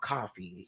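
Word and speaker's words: Ko-fi: seen people do um it's a platform called coffee and it's spelled k-o-f-i okay it's kind of like patreon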